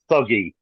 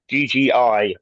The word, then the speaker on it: Thuggee: if I can just interject there, just 1 second, it's actually pronounced thuggy, Thank you. Thuggi, and that is actually where the terminology thug comes from.